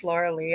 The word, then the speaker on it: Lorilei: It's spelled like Lorelei, but it's Lorilei.